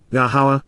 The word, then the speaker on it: Yahowah: city and inhabitants ear place and population of yahuwah yahawa the proper pronunciation of yahuwah are a lower God is